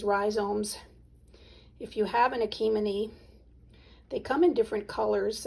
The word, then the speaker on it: Achimenes: n e s and my understanding is you don't pronounce the last s um and they come